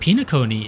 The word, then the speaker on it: Penacony: This is pronounced Pinacony in Japanese.